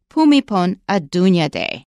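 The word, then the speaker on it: Bhumibol Adulyadej: I found out that it is more like pumipon a Dunya day while we're on the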